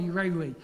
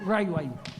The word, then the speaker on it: Rewi: So that's how staunch some of he just got so sick of being called Rayway.